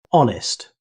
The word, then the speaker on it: honest: Honest. The word begins with an H, but it's never pronounced. Native speakers say honest.